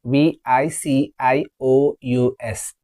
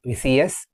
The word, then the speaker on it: vicious: V I c i o u s. It is vicious. Not vious. Vicious.